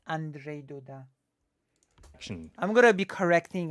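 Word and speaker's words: Andrzej Duda: next polish general election it's not Andre it's Andre Doda action I'm gonna be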